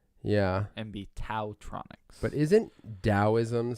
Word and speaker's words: TaoTronics: T yeah and be taotronics but isn't Taoism spelled ta o is M yes but in this case nothing those headphones are support Taoism related yeah I'd say the T myself its ta o Tronics